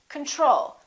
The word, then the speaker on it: control: we say control or do we say control we say control second syllable is stressed the first o is reduced repeat after me control